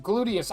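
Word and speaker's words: Gluteus: Glutius. I know it's it's glutius. That's how you say it.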